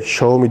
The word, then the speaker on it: Xiaomi: Hani bunun Xiaomi yazılıyor ya Xiaomi diye okunuyor bu arada. Hani okunuşu Xiaomi'ymiş. Biz de öyle öğrendik. Çinliye sorduk bizzat. Xiaomi dedi.